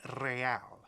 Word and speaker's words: real: You owe me 130 real. Ah. He pronounces the R with a mock aristocratic accent.